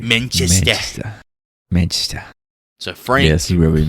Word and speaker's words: Manchester: It's Manchester. You gotta say it correctly. Manchester.